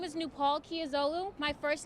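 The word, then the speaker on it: Nupol Kiazolu: years old with a 3.7 my name is nu Palkia Zulu my first name is spelled nu pol my last name is spelled ki a zo Lu I stepped on FDR at 9:00 a.m.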